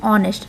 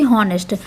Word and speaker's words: honest: हम प्रोनाउंसिएशन पे जाएं, तो ये हम उच्चारण करते हैं ऑनेस्ट, न कि हॉनेस्ट। एच को साइलेंट करके हम ऑनेस्ट साउंड करते हैं।